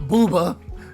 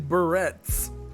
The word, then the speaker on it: barrettes: Not booba. Barrettes. Barrettes. There's a T, not that. I was not saying booba. I was saying barrettes.